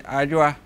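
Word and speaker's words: Adjoa: Inti oba, that is a ajua, right? Ajua. Ajua, so you want to spell it?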